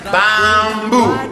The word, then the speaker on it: Bambù: Con l'accento sulla U! Bambù!